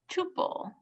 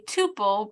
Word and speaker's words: tuple: right that's list tuples Tuple a tuple pronounced Tuple or Tuple is similar to a